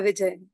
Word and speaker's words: Vijay: for today my guest for today is Rebecca VJ is that how you pronounce the name or do I have it wrong all together yes Rebecca VJ thank you okay my guest today is Rebecca